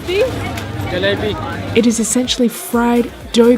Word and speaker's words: jalebi: How do you pronounce these? Jalebi.